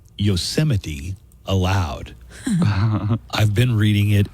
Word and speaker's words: Yosemite: one thing that's disqualifying Trump has obviously never seen a Bugs Bunny cartoon with yosity Sam or he would know how to pronounce yosity when they gaze upon Yos semites yanites towering Seas look you have anti-semites and you have yoses and then the seoa